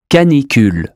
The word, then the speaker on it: canicule: U as in hue. Canicule. Formule.